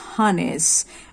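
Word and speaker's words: harness: हार्नेस word में देखिए यहाँ पर आर वर्ड जो है साइलेंट है. So this is हार्नेस.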